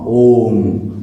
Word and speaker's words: ओम: अ उ म ओम। अ आपका ब्रह्मा, अ आपका नाभि ब्रह्म से शुरू होगा, तो आप ऐसे उच्चारण करेंगे।